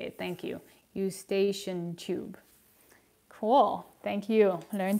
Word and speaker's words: Eustachian: tube that's how you say it thank you eustachian tube cool thank you learning something new so